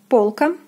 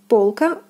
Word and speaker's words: полка: Next we have полка, полка. O is stressed, is pronounced as in the alphabet.